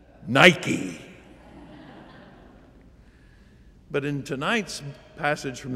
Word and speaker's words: Nike: Greek the name is Nikkei Nikkei well that's the Greek pronunciation we pronounce it with a swoosh Nike but in tonight's passage